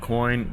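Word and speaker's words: Quin: Pronounced like coin. You know, the money, but spelled like quo i n.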